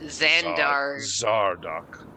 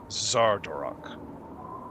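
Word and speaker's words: Xardorok: spoken to my father whose name Jeff can't pronounce because zandar zardock something golf ball that's not true his name is Zar dorock x-a-r-d-o-r-o-ks it says deep Dora has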